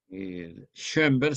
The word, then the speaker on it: Schoenberg: Schoenberg se escribe con S-Che y dos puntos en la O. Schoenberg, terminado en G. Berg, con B. Schoenberg.